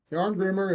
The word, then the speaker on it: Jarngrimr: say the name yes joh greamer forur Howers yarn Grimmer it means Iron Mask and it's a normal